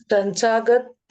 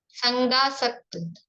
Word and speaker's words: संगासक्त: संगासक्त, संसागत नहीं। संग आसक्त शब्दों के विच्छेद इसीलिए मैं बताती भी हूँ ताकि अपने प्रोनाउंसिएशन और भाव भी अपने को सही आए।